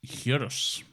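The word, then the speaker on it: gyros: sound like a fake word it's it's officially pronounced hurus but yeah it's spelled g y r oos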